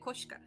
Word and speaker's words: Koshka: But I pronounce it Koshka. Like it should be.